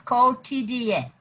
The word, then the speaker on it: Quotidien: Quotidien. Four syllables. Quotidien.